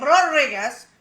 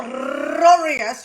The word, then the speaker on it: Rodriguez: And she, of course, is shouting out, Leo Rodriguez. Oh, I didn't roll that properly. Leo Rodriguez. You have to roll your R's.